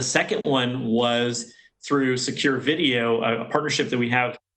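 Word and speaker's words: Vidyo: have a contract with a company called vid it's spelled video but it's pronounced video v-i-d-y-o we have a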